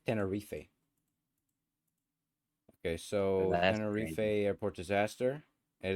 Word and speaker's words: Tenerife: a thing Tenerife okay whatever uh I just pronounced let me give it to me Tenerife Tenerife it's Tenerife okay so airport disaster it is crazy so